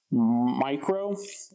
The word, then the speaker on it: Mycro: This is the Nebo Mycro, and it's the 500 lumen one, and that's spelled M-Y-C-R-O.